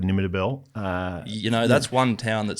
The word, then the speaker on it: Nimmitabel: If you hear it Nimmitabel on the news, it's like, and there's been a bit of rain in Nimmitabel. Where if you say it quickly, Nimmitabel.